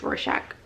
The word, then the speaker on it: Rorschach: It's Rorschach, in case you were wondering, but it isn't available anymore, so I guess that's not that helpful.